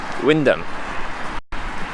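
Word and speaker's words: Wymondham: it should be with wyndham see that's so many letters for to be windham coming from a drunk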